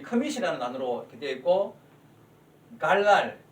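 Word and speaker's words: גָּלַל: 단어로 이렇게 되어 있고, 갈랄, 히브리어로 이게 갈랄 발음이 되죠.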